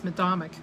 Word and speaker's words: Medomak: I believe it's Medomak. I think they pronounce it both ways, but so anyway, Medomak,